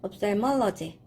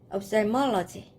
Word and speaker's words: ophthalmology: 네, 조금 발음이 어려워요. OPH 발음이 좀 어렵죠? ophthalmology. ophthalmology.